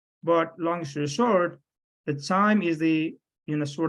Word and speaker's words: QIIME: with every day in daily basis, is the CHIME, which is a canon. You know, pronunciation is a different, but it stands with the QIIME, which is the Quantitative Insights in Microbial Ecology.